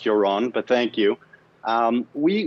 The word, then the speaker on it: Yaron: you this morning and my name is pronounced joran but thank you um